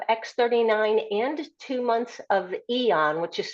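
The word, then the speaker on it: Aeon: And that will give you give somebody either two months of X39 and two months of Eon, which is spelled AEO N, or three months of the X39.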